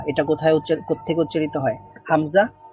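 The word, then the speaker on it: همزة: কোথায় কোত্থেকে উচ্চারিত হয় হামজা এটা হলকের শুরু থেকে বা এটা দুই ঠোঁট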